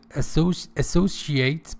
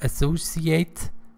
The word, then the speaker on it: associate: Relations with associates, both pronunciations exist. Both associate and associate. Associate, associate.